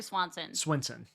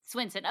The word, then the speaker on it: Swinson: like Eric Swinson, and is it Swinson or Swanson? Swinson.